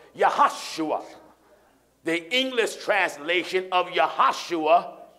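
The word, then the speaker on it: יהושע: son of none yeah in Hebrew there are no JS in the Hebrew alphabet that's right so the name Joshua and Hebrew is pronounced yahoshua the English translation of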